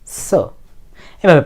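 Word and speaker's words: つ: সু এখন কথা হলো টি এর পরে এস থাকলে কিন্তু এই টি এর উচ্চারণ হয় না যেমন সুনামি সুনামির ক্ষেত্রে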